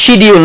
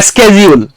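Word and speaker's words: schedule: উচ্চারণ করেন আমরা বলি শিডিউল নাকি হ্যাঁ এটা কিন্তু ব্রিটিশ আমেরিকানরা বলে স্কেডিজিউল আপনি দেখবেন তাহলে বোথ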